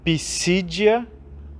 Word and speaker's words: Pisídia: Pisídia, com acento no I do meio, no segundo I, e Panfilha, também com acento no primeiro I.